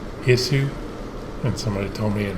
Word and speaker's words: Isu: he told me that their name is pronounced ningen i think it's pronounced issue and somebody told me